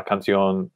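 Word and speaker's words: canción: song la nacion nation very common ending of words in spanish and they um should all make almost always if not always have an accent mark over the o to kind of pull the stress in that direction okay david um let's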